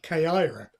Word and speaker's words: Caira: I've got a feeling it ought to be, should it be pronounced Caira, as in AI, Caira?